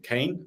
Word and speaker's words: Kain: So I'm Kane or Kine, depending on which pronunciation you like.